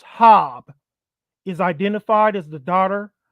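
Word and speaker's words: Habe: Ed Sanders the family Marina hob pronounced hob is identified as the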